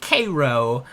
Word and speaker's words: Cairo: It's spelled Cairo, but it's pronounced Cairo.